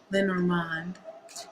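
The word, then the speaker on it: Lenormand: to use Oracle or L lenorman some people like to pronounce it that way who's coming towards Ashley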